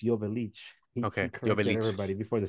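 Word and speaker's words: Joveljic: Dejan Jovelic, by the way, that's how we pronounce his name correctly. It's Jovelic.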